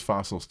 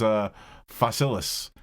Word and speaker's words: Fossilis: I always thought it was fossils too. Oh wow, there's another I in Yeah, I said fossils every time too, and then I realized it is fossilis.